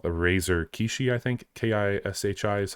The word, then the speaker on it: Kishi: Kishi is how you say it.